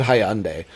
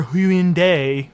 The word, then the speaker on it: Hyundai: code over the phone, the robot voice mispronounces Hyundai. It says your Hind verification code and I'm like, what?